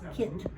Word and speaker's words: Kit: Ah, Kit. Kit. Kit. Like a kitten, but Kit.